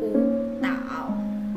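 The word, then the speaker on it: 舞蹈: Maka cara bacanya ini menjadi u tao ya. U nya berubah menjadi nada 2 yaitu u tao ya.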